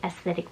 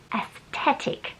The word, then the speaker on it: aesthetic: aesthetic and that is the way you say aesthetic by the way just to give anyone a bit of a lesson because I noticed there are a lot of people pronouncing this word incorrectly online they're saying athetic there's no there's no it's t aesthetic okay